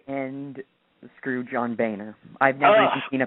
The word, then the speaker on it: Boehner: How do you pronounce his name? Is it Boehner? Boehner, isn't it?